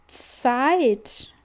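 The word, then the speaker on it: Zeit: Zet. Então, olha, gente, o Z no alemão, ele vai ter som de ts. Ou se ficar mais fácil igual os o Z tem aqui na palavra pizza. Pizza.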